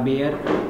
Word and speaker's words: Baeyer: BAE spelling थोड़ी सी अलग होती है, BAEYER बेयर ब्लेजर, ठीक है ना।